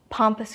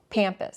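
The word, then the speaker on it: pampas: large grouping of plumes pompus grass pampus pampus pampus one of my Australian friends shared that I've been pronouncing pompus wrong pampus well we don't think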